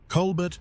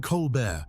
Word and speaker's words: Colbert: He created a fictional, hyper-conservative, deeply narcissistic alter ego named Stephen Colbert, spelled exactly the same way, but with a silent T to sound extra pretentious.